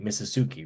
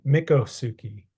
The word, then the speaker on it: Miccosukee: uh and I believe I hope I'm pronouncing that right misuki right M mikasuki mikasuki mikasuki yeah mikasuki yeah yeah and we could both be butchering it I apologize you know but as we I kind of listen to a thing and I from what I heard it was like yeah misuki or mikasuki based on how the people in the videos were pronouncing it right so that's what I